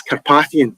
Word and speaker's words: Carpathian: Is it Carpathian or Carpathian, or what's the correct pronunciation? It's Carpathian.